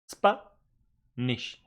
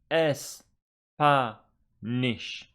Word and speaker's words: Spanish: Spanish how many syllables please don't say three because it is spaish it is not es spaish it is spaish and St is on this first syllable so it goes here